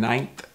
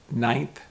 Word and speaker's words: ninth: are more closer together where month and ninth is more my lips are more open i'm smiling month ninth panther panther panther third